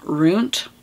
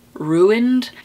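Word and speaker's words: roont: They eat something, some energy within the children that results in them being ruined, R-O-O-N-T, pronounced like ruined, and these children end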